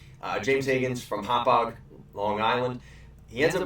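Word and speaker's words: Hauppauge: was the Islanders picking up the kid from Hopog. And that is how you pronounce it. It is Hopog.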